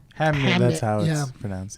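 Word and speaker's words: Hamnet: Hamnit. That's how it's pronounced.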